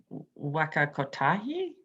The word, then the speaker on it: Waka Kotahi: as council policy uh now if you're in wakatahi um should i pronounce it how do you pronounce it again captain i think it's waka kotahi okay yep that's it uh then yeah the